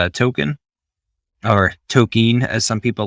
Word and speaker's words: Tolkien: I learned early on that it's Token, and that's just how I say it.